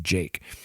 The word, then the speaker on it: JVKE: this artist jake and it's jvke but it's pronounced jake and he was you know he did a